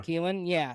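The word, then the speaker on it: Kilen: How do you say the Tennessee is Gavin Kylan or Keelan? Keelan, yeah. Keelan, yeah.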